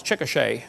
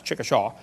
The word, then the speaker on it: Chickasha: 2005 textbook and I pronounced it wrong as Chickasha that's Chickasha Chickasha Oklahoma I got corrected during